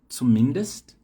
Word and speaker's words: zumindest: Interessante que a sílaba tônica muda, ó. A primeira tá aqui no início, mindestens, no i. A segunda palavra aqui tá no i também, ó, só que na outra sílaba, né? Zumindest. E na última palavra tá no comecinho aqui na letra e, ó, wenigstens.